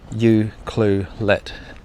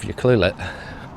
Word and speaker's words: Ucluelet: You see, you want to say Ucluelet. Like U- Ucluelet. But that's really hard to pronounce. So, the way that you're supposed to say it is Ucluelet. U- Ucluelet. It's really tricky.